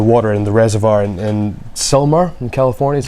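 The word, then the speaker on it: Sylmar: now cover the water in the reservoir in Selmar in California, is how you pronounce it, basically to protect against evaporation.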